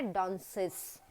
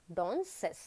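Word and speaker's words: danseuse: Number A, that is DANSUESE, एंड इसका जो pronunciation होता है वो होता है डांसेस, डॉन्सेस।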